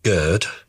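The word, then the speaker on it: GERD: It's what the Americans call gird and what we call gourd because we spell esophagus differently. So we spell esophagus with an O E and Americans spell it with an E. So it's either gird or gore depending on which country you're in.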